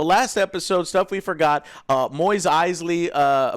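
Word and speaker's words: Mos Eisley: episode stuff we forgot Moyes Eisley moss eisely is how it's pronounced I don't know you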